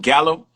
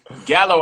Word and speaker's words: Gallo: So Gallo actually is Spanish. It's pronounced Gallo, but Gallo. I pronounce it but I pronounce it Gallo because I'm not Spanish.